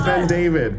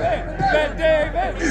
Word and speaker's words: BenDavid: It's actually BenDavid, so you're failing so bad. It's BenDavid. BenDavid. It's one word. BenDavid. Stop it. Wrong number of syllables.